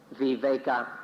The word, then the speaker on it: viveka: state of freedom in pali the word is viveka v-i-v-e-k-a or we wake up and in thai it's pronounced we wake we wake up is can